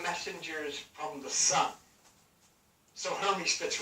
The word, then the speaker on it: Hermes: Now, John, Hermes, pronounced Hermes, is the messenger of the gods in Greek mythology, as well as a guide to the underworld.